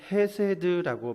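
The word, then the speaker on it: חסד: 히브리어 발음으로다가는 헤세드라고 발음을 한답니다.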